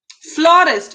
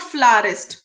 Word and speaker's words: florist: फ्लोरिस्ट. इट्स नॉट फ्लारिस्ट, इट्स फ्लोरिस्ट. Spelling सही करने पड़ेंगे हमें.